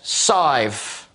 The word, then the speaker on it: Sive: You pronounced it right. Nobody pronounces it right. I've been working on it all day. Don't get me wrong. Honestly, I accidentally said Sieve and he goes, Sive.